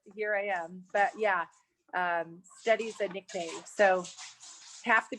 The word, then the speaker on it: Stettie: A little background on where steady came from, because it's spelled STETTIE, which steady hand is kind of cute and quirky for a decorative painter.